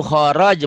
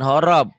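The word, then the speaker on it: خرج: Wa min haitsu kharaj, bukan horob.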